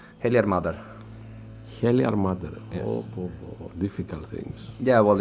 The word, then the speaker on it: Heljarmadr: hell if you will yeah how is it pronounced helar mother helar mother oh difficult things yeah well it's a it's